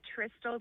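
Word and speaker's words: Tristal: No, it's actually Tistol. Like Crystal with a T.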